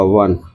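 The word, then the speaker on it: one: Oven ये ओ से start है, बट इसका जो प्रोनाउंसिएशन होगा वो ऐसे होगा वन।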